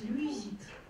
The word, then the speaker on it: люизит: Другой интересный газ – люизит. То есть это уже третий. У нас был фазген, иприт, и это люизит. Читается Левис, да, вот это из-за фамилии он был так назван.